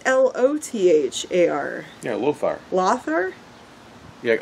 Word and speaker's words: Lothar: Well, it's L-O-T-H-A-R. Yeah, Lothar. Lothar? Yeah, O can't be pronounced O at all.